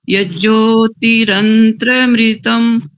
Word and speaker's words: यज्ज्योतिरन्तरमृतं: ओम यत् प्रजानमुत चेतो धृतिश्च यज्ज्योतिरन्त्रमृतं प्रजासु यस्मान् न ऋते किंचन कर्म क्रियते तन्मे मनः शिव संकल्पमस्तु। रंत्र नहीं, रंतर। रंतर मृतम। यज्ज्योतिरन्तरमृतं।